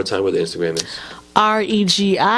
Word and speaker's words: RegiWroteIt: RegiWroteit, pronounced Regiwroteit, one word.